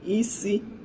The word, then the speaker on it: isi: Igbo word for today is isi. So isi, that's head. Isi. I'll spell it in English. I-S-I. Isi. In Igbo is I-si. I-si. That's isi.